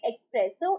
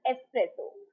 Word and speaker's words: espresso: coffee right so that is incorrect to say express so it is espresso this x will be pronounced as x right so it will be